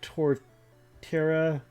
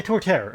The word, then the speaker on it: Torterra: that as well um it's I know it's like toward Tara yeah Torterra okay yeah I think